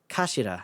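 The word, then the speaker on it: 頭: hilt turn by head it's written as head in Japanese but it's pronounced as Kashira I believe so Mr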